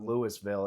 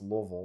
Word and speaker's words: Louisville: It would be like Lix cuz that's how I pronounce Louisville is it's not Lewisville, it's Louisville. Louisville.